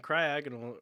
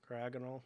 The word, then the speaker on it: Cryogonal: So again, the second syllable is the emphasis there.